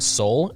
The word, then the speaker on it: Seoul: You didn't know how to pronounce soul? No, because it was spelled different.